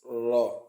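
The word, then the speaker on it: راء: So now that's raw. It is pronounced from the top part of the tip of the tongue when it hits the gum behind the upper incisors.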